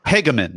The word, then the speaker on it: Hagemann: Am I saying Hagemann? Hagemann. Okay, so it's 3 syllables.